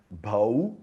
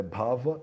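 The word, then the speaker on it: भव: Muitas vezes a consoante v, ela é pronunciada como u, né? Bhau e abhau, mas é bhava e abhava.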